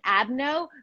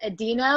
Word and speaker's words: adeno: Yeah, so it's I pronounce it adeno. British people often pronounce it adeno.